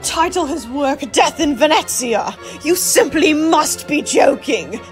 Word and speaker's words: Venezia: of course but in the case of fine venetsia most cultures seem to have taken a liking to the English pronunciation using the relatively gobbled Venice in its